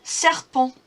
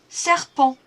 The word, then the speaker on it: serpent: Un serpent. Un serpent. Again, we don't need to pronounce that last sound, that letter T.